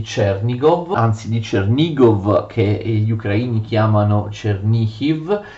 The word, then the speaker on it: Chernihiv: Vedete, erano tantissimi territori, i territori di Chernigov, che ripeto gli ucraini pronunciano Chernihiv.